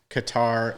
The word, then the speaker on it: Qatar: so um the product correct pronunciation of the country has always been qatar but everybody in the u.s has always been calling it katar for for years and